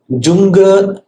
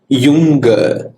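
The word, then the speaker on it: Junge: ஜுங்க, ஜங்க கிடையாது. ஜே வந்தா ஒய் யூஸ் பண்ணணும். யுங்க, யுங்க, யுங்க அப்படின்னா ஒரு பாய், ஒரு யங் பாய்.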